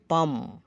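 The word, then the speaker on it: palm: এরপর এম এরপর থাকলে এল প্লাস এম থাকলে পরে ভাওয়েল না থাকলে এল অনুচ্চারিত থাকে যেমন কাম কাম এল এর উচ্চারণ হবে না কাম শান্ত আমস আমস ভিকা পাম ফাম ফাম তালগাছ ফাম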